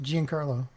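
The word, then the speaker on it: Giancarlo: keep getting re-shoot um how do you say his name name uh J Carlo Esposito Jin Carlo yeah g Carlo Esposito um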